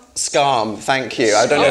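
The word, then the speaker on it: Skam: it the scandi drama as a how's it pronounced scarm thank you I don't know if you guys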